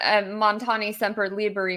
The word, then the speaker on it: Montani Semper Liberi: You know, I think one of the things that's ironic in Mountaineers are always free, which is what Montani Semper Liberi means, which, by the way, I had to